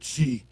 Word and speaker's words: Qi: the Flower T called Chi. It's is spelled with a Qi, but it's pronounced chi.